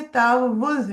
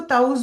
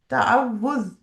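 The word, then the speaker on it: تعوذ: आपको हरकत नजर आ रही होंगे, तावुज़ है ये। तो बाज दफा कुछ लोग इसको ताउज भी पढ़ते हैं ना, तो ताउज नहीं होता ये, तावुज़।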